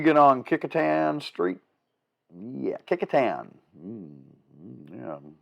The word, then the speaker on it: Kecoughtan: on kecoughtan street yeah kecoughtan yeah look and see how it's spelled and you will have a fun time with that or the city of pocosin